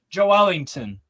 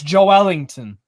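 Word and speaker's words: Joelinton: say his name correctly Joe Wellington no it's Joe Ellington that's how you pronounce it correctly in Portuguese Jo Ellington I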